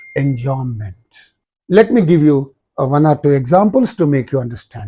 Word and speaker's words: enjambment: Be silent. All of you know pretty well that B is silent. Enjambment, that means striding over.